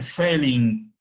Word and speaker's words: Fehling: la otra reacción, que se llama reacción de Fehling. Se escribe F-E-H-L-I-N-G, reacción de Fehling.